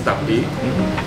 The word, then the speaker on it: tapi: And then even he wrote on the back of his tapi T-A-P-I tapi meaning that hey this is the